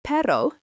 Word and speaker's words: perro: The word perro, pronounced perro, means dog.